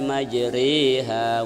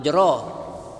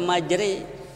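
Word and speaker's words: مجراها: miring garis miring bismilahi majreha wa mursaha majri balesnya Hai majrooh by saat asrock itu tapi harus dibaca majri begitulah Rasulullah bacanya dulu begitulah sahabat membacanya dulu ya disuruh Hut ya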